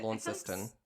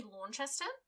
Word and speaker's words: Launceston: there recently okay also that's that word is spelt so stupidly because it's felt like it should be lawn chester but it's just not isn't that no by